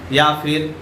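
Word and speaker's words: יפו: ये घटना घट रहा है जोफा या फिर याफा नामक एक जगह में। तो ये जो जगह है जोपा, इसको हिब्रू में प्रोनाउंस किया जाता है याफो, और आज के दिन में इसे जाफा कहा जाता है।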